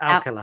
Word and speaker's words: Alcala: How do you pronounce it? Alcala.